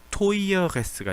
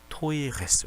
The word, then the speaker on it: teures: 원래대로 했으면 토이어에다가 토이어레스에서 이렇게 붙여야 되는데 발음의 편의성 차원에서 토이어레스가 아니고 토이레스가 됩니다. 토이어레스가 아니고 토이레스 이렇게 바뀐다는 거.